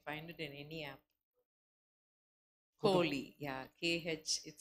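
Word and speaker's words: חֳלִי: Holy is how it's pronounced. KH, holy.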